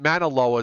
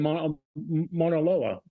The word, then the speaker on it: Mauna Loa: Loa oh there's there's a there's a I pronounced it manaloa so it's is there a manaloa no there's Mauna Kea and Mauna Loa and then there's Mona Lisa yeah now one